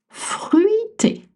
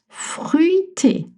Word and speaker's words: fruité: Fruité. Not easy to say. Fruité, right? That U sound. Fruité. Fruité, not fruit.